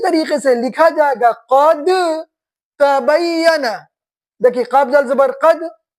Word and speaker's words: قد تبین: متوجہ رہیے ادھر، یہاں پہ ہے قد تبین، لکھا جائے گا قرآن شریف میں اس طریقے سے، لیکن تلفظ کر دیں گے قد تبین.